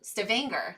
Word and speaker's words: Stavanger: the summer light all 24 hours and stabbing Stavanger that's how we say it right we had